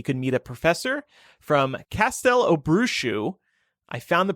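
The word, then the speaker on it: Castelobruxo: in rio he could meet a professor from castel obrushu i found the pronunciation on wizarding world i know that's right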